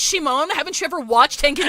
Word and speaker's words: Shimon: I got It's pronounced Shimon.